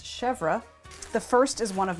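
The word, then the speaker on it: chèvre: couple different shelves uh didn't pronounce that right it's chevra the first is one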